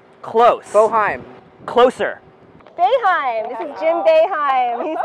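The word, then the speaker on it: Boeheim: court advantage but let's see if you can pronounce these words ready Ananda Ananda Ananda yes baheim bohim close bohim closer beheim this is Jim beheim he's the coach here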